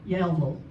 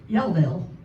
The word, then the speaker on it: Yellville: It's kind of like we were talking about Yellville. He said, how do you say it? And I said, Yellville. He said, no, it's Yellville.